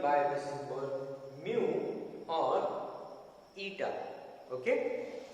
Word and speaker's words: eta: And refractive index is given by the symbol mu or eta. Okay, it is pronounced ETA, eta, Greek alphabet.